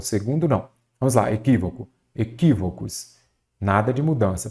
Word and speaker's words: equívoco: Eu já sei que a antepenúltima sílaba é a tônica, ela será acentuada. Então, aqui eu tenho uma proparoxítona, não é isso?